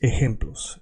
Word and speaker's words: ejemplos: Examples, of course, in Spanish is ejemplos. Ejemplos. So the J is called J and it's pronounced h, like the H in English.